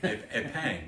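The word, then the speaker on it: épingle: It sounds like pens to me. Epang, but you pronounce epang.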